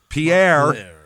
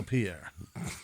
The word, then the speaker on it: Pierre: capital of South Dakota, which is called Pierre. Oh, Pierre. That is how the rest of the universe pronounces that word.